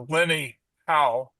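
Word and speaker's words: Lene Hau: uh Lenny How. It's spelled L E N E H A U.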